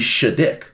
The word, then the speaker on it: Shattuck: I found out we're actually mispronouncing Shattuck's name. I looked it up. You know, it said Shattuck, proper noun, son of Sonic Shadow, and it's actually Shaddick.